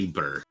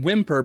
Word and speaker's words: Weemper: me Weemper. Weemper? Weemper. Actually, most people call him Whimper because they don't bother saying it correctly.